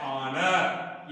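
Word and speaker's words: honour: पर भी कॉन्सोनेंट है, लेकिन तीनों शब्द में यच साइलेंट है, अर्थात यच का उच्चारण यहां पर ये नहीं पढ़ा जा रहा है, माना ये नहीं पढ़ा जा रहा है, बल्कि क्या पढ़ा जा रहा है, ये पढ़ा जा रहा है ऑनर।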